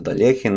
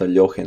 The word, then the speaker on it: Alekhine: capablanca versus Alexander alien I'm going to pronounce the Delian not a yogi nor Ella kind this is how I was taught to pronounce it and this game unfortunately